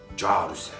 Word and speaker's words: Cihar ü se: Carüse. Aslında Ciharüse'dir ama Carüse diye okunur. Onu dilimiz yuvarlar.